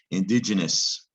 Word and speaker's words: indigenous: to be a judge a soft g sound gen so this must be digin or digen and you recognize that ending the ou makes it a little bit confusing this is the word indigenous indigenous indigenous four-syllable word